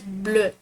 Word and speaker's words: bleu: And blue in French, you gotta pronounce it as Bleu. So it's basically like the same thing. Like in English we pronounce it as blue, but in French we pronounce it as bleu. So like in English it's UE, but in French it becomes EU.